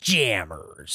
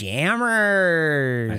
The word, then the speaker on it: Jammers: doordash yeah that's j-a-m-m-e-r-s Jammers don't say it like that they're just yammers they're just Jammers yeah no not jamesers ah you okay yeah